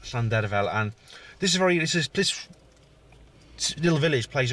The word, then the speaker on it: Llandrillo: It's called Llandrillo, or as Andy Roberts called it, Clan the Fell. Old Andy Roberts. it's pronounced Llandrillo, and this little village